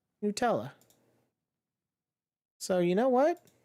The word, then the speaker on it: Nutella: right there we go how do you say Nutella let's see here Nutella Nutella Nutella Nutella according to Google Nutella so you know what